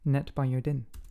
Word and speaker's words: NetBiodin: I had to ask how to pronounce it. NetBiodin. You pronounce it NetBiodin.